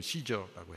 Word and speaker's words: 시저: 가이사는 한글 번역이고 원래 발음은 시저라고 해요. 로마 황제에게 상소하지 않았더라면 풀려날 수 있었을 것이다.